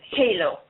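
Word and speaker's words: Heylo: This is Halo. Halo? Yeah, H-E-Y-L-O is how it's spelled.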